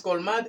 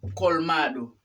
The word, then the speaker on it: colmado: mercado no ha colmado ya no te dicen colman pero no es colman es colmado muy chic but singh